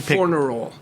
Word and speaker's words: Fornerol: Didier Fornerol. Spell it. Didier, D-I-D-I-E-R. Spell the last. Fornerol. F-O-R-N-E-R-O-L.